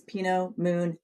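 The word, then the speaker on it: Pinot Meunier: and pino moon and I learned that that's how I remember to say it is pino moon yay the trick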